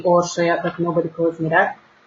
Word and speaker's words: Orsolya: I am Orsolya from Budapest, or proper Hungarian pronunciation, it would be Orsolya, but nobody calls me that.